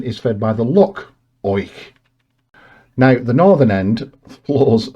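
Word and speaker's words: Oich: lock is fed by the river and I hope it pronounces right which is spelled o i c h which in turn is fed by the lock oink now the Northern end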